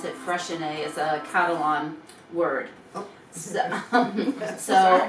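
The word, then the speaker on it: Freixenet: cava from spain and it's called freshen a for my whole life well since my adult life i always called it freezing but i actually looked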